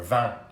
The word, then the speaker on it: vin: Or vin, you don't pronounce the N.